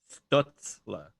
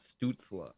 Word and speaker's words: Stützle: Like, and it's pronounced Stützle, not Stützle.